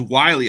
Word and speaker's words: Whyle: then so okay so pronounce his name is Wiley I guess it's Josh Wiley I guess not while I guess but uh he